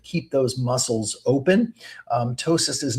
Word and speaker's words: ptosis: We call it ptosis, and you spell that it starts with a P. The P is silent. p t o s i s ptosis.